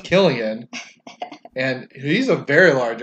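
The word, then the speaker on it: Cillian: say his name because it's really pronounced Killian and he's a very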